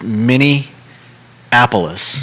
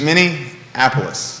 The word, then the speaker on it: Minneapolis: how you were saying there's no n in the middle it's many apollos mini apollos yeah somebody commented yesterday